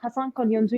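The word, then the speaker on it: Hasan Kalyoncu: so can you tell us how do you pronounce the university's name yeah so i am master degree student at hassan konyondo university which is based in turkey okay and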